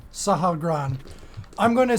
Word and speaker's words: Sahagrann: I'm going to take a step in front of it, looking up at how did you pronounce it again? SAHAGRANN. SAHAGRANN. I'm going to say in deep speech again, SAHAGRANN, what is your purpose?